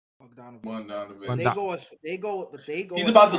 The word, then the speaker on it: Bogdanovic: Bogdanovic.